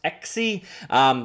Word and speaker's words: ECSY: checking out XE actually literally pronounced XE very close to XE for my liking